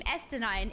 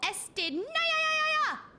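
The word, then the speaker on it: Estinien: So, apparently me pronouncing his name Estenine is wrong. So we've had some development. And apparently the chatting ones have settled for Estin.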